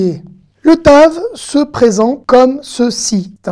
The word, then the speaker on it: ת: En hébreu moderne, il se lit toujours T. Et je dirais même qu'il se lit exactement comme le Tet. Le Tet et le Tav ont exactement la même prononciation en hébreu.